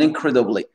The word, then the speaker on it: incredibly: Et incredibly, incroyablement, l'accent tonique ici, comme je vous avais mentionné, il est sur le cred.